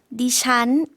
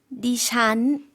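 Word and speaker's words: ดิฉัน: ด ิ ฉ ั น 네, 니찬이라고 발음해 주셨는데요. 는 내려가는 일성 발음이고요. 잔이라는 거는 삼성과 같이 올라가는 발음으로 해주시면 되겠습니다.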